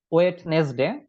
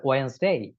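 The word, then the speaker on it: Wednesday: ভুল উচ্চারণটা করে থাকি, এটা উচ্চারণ আমরা করে থাকি ওয়েডনেসডে। তারপরে আমরা বলে থাকি যে এটা মনে হয় খুব ভালো, ওয়েডনেসডে এরকম বলি। তো একটাও ভুল, একটাও রাইট না, একটাও রাইট না, সবগুলাই ভুল। এটার রাইট উচ্চারণ যেটা, সেটা হচ্ছে ওয়েন্সডে।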